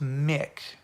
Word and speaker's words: Mick: All right, we got the last name pronounced, Brad Mick.